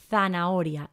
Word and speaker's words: zanahoria: la siguiente y tenemos zanahoria y cuidado con esta pronunciación por favor nunca decimos zanahoria zanahoria no no la h no tiene sonido en español y cuando está en